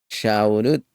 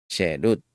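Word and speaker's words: חֵרוּת: las tablas shemot 321 no pronuncies shaut con la vocal a sino solo con la en sherut una vez realizado ese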